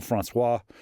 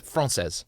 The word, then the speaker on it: Française: The contract to rent the French embassy in Washington, D.C., which is referred to as La Maison Françoise or Française. How do you say? Française. Française. There we go.